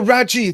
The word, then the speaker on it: Raggi: David Allen Raggi says it's actually pronounced. Oh, Raji. Thank you, Raji.